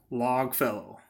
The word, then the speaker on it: Longfellow: It's not going to be follow. It's fellow. Logfellow.